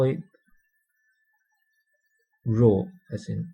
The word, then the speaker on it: rho: a Greek letter and we pronounce this we pronounce this um Greek letter we don't call it P we call it row as in r h o That's the usual